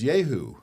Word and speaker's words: Jehu: "I've been told by my staff that I'm mispronouncing the defendant's name." Okay. And it really is Jehu.